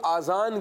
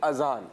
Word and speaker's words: اذان: یہ غلطی کرتے ہیں، کچھ لوگ آزان کہہ رہے ہوتے ہیں نا، آزان، آزان یہ تلفظ درست نہیں ہے، ٹھیک ہے پیارے بچوں،